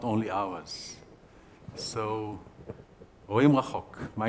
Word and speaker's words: רואים רחוק: We say רואים רחוק. That's how we pronounce it in my Hebrew language.